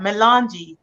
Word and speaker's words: Melanj: How do we pronounce that? Melange.